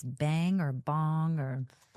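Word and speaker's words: bhang: I don't know if it's bang or bong or bong. Bong. That's how you pronounce it.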